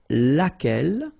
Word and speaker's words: laquelle: So basically same rule, Q-U, U is not pronounced here. And then you get this E-double-L-E, well, phonetically here, it is the same as what we have here. So, laquelle. So, the only difference between